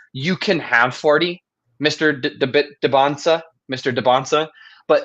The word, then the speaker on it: Dybantsa: I believe it's Dybantsa. The T is silent, oh, and gotcha. I believe the Y is an E.